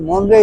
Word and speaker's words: Monterey: मॉन्ट्रे हालांकि अंग्रेजी में लिखते हैं किंतु मोंरे यहां का उच्चारण है जो बहुत ही ऐतिहासिक जगह रही है।